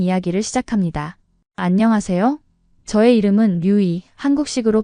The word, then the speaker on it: 류이: 저의 이름은 류이, 한국식으로 발음하면 루이라고 하죠.